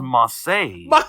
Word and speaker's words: Mace: He's one of the maximum male models, and it's not Mace. It's now pronounced Massey.